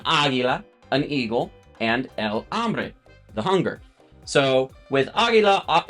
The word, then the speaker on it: hambre: So hambre, agua, alma, and ala. And of course, the H here is silent, so it's hambre, it's not hambre.